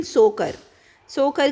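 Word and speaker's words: Tso Kar: Proto planet, उसने launch किया है human outer planet exploration research station इन सोकर करके एक जगह है, टी इज साइलेंट इसमें, TSO में, लद्दाख में।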